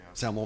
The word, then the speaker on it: SAML: And the newer version of, was it SAML? Is that the right way to say it? Yeah, SAML implementation, both from all the IDPs did not work with these old deprecated embedded browsers.